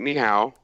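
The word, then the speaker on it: 你好: Is ni hao Chinese? Well, I didn't say it correctly. I didn't say it with the right tone, but yeah. What's the right tone? That's more like ni hao.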